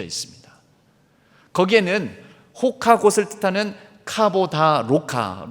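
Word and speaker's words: Roca: 거기에는 호카을 뜻하는 카보다 로카 로카가 포르투갈 말로는 호카라고 읽습니다. 호카 곧 표시와 함께 그 밑에 19절이 적혀져 있습니다.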